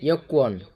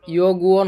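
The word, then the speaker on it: 여권: 3 নম্বরে ইয়কুয়ন, এই উচ্চারণটা হবে ইয়গুয়ন হবে না, মানে ইয়কুয়ান হবে এভাবে।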